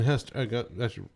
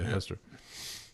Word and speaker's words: Hester: So we got Justin Hester. That's how I'm pronouncing it right. Justin Hester. Justin Hester. Yeah, Hester.